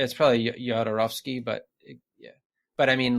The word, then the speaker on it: Jodorowsky: Yeah, because the first one I heard was Jodorowsky, like Eastern European pronunciation of the J, and I was like, oh, is that what it is?